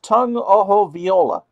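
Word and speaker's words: Tua Tagovailoa: 7-nothing Clemson early on that's tongue oh ho viola its how that should be pronounced and if I'm wrong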